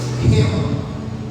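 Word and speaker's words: ῥῆμα: ninguém falar que que é pronunciado como hema Exatamente isso Rema a Bíblia Sagrada ela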